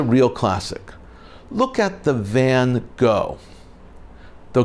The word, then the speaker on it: Van Gogh: classic look at the van Gogh though correctly pronounced it is Van Gogh the GH is pronounced as an F in a moment more